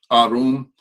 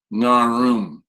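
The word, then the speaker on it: ערום: And by the way, when I put that NG on the front of arum, that's just indicative that the letter at the first letter of this word is an ayin, and it does not mean you pronounce it narum. That's simply silly.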